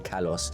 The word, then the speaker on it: Kalos: Kalos being a Greek word, pronounced Galos, but I know it's spelt with a K, so I just know no one British is ever going to go Common Galos. So I'm calling it Common Kalos because that's how it's spelled.